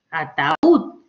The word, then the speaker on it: ataúd: Ataúd. Lleva tilde, la mayor fuerza de voz está en ud, ataúd.